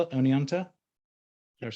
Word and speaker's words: Oneonta: Is that how I spell it? Oneonta?